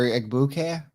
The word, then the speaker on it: Egbuka: You know how many people have heard Egbuka or Egbuka? Egbuka. Everyone's pronouncing the G.